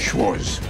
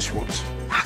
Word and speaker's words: Schwarz: The Al Pacino character, Dino De Laurentiis-inspired producer Marvin Schwarz, shares with Weinstein a commonly mispronounced last name. Schwarz, not Schwarz.